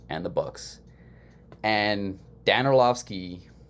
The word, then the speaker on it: Orlovsky: Dan Orlovsky, I think is how you say it. I don't Orlovsky. remember. Orlovsky, there you go.